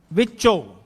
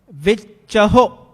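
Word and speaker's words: ਵਿਚਹੁ: So, the right way to pronounce is vichaho. You must pronounce the haha onkad, and the only way to pronounce the haha onkad if you emphasize on the letter before the haha onkad. Here is chacha, so vichaho.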